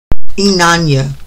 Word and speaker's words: Inanna: Let me get the pronunciation of the name right. Inanna.